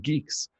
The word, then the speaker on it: Guix: And then he gave an update on his project to integrate GUIX, pronounced geeks, builds into the Bitcoin Core to minimize trust in the build toolchain.